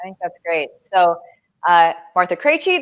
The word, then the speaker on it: Krejci: So, Martha Krejci, that is how you pronounce all of those consonants really close together.